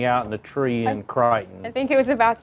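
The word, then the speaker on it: Creighton: It's the Crichton Leprechaun. Which is spelled C-R-E-I-G-H-T-O-N.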